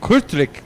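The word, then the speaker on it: Kortrijk: courtroom track court strike that's how we say it my buddy gregory laporte who's over there with a yellow flag taught me how to say this correctly so we're going to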